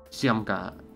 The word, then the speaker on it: Сёмка: Ударение на «е». Семка.